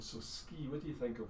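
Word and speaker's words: sgìth: It's pronounced ski. Right, so it's not even close, it's kind of vaguely close, but again, work with the sound. So ski, what do you think of when you see ski?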